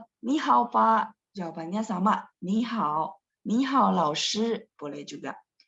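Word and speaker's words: 你好: Jadi tulisannya sekali lagi ya, tulisannya tetap ni-nya 3, hao-nya 3. Tapi bacanya doang, yang depannya berubah jadi nada 2 ya.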